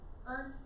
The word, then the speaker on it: Ernst: Is we're about to Ernest? say it. Ernst.